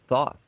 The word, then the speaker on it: Thoth: known as the Egyptian god of Thoth, or Toth, or Thoth, or however you want to pronounce it. I like Thoth.